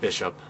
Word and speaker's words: Bl5H0P: So that's where I came up with the name as Bl5H0P, because all capital letters it looks like Bishop. So it's not like Bl5H0P or anything like that. It's pronounced Bishop, but that's where the